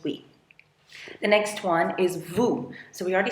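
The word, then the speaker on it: vous: The next one is vu.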